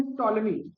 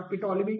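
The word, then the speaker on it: Ptolemy: अच्छा, इसके बाद क्या हुआ, द ग्रीक मैथमेटिशियन टॉलेमी, अब इसमें पी करके नहीं पढ़ना, पिटोलेमी करके नहीं पढ़ना, टॉलेमी उसका नाम था, ठीक है, वहां पे पी साइलेंट है, ओके।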